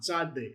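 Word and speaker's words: צדי: Tzadde. Tzadde is a Tzadde. TS sound. Tzadde. It is a final form letter.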